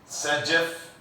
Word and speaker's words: Zaitsev: Sajev rule, तो Sajev का spelling ये भी लिखते हैं ZAITSEV, Sajev।